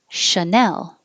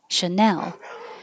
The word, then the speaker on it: Chanel: And the brand, Chanel. Chanel. The noun, like a channel of water, a small space. Channel with a ch.